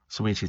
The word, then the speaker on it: Saweetie: Is that how you pronounce it? Saweetie, thank you.